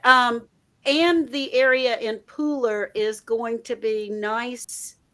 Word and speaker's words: Pooler: I'm So Country yeah you have to spell it p-o-o-l-e-r I know it sounds like I do say Pooler I do I say pool yeah but it's Pooler where are you from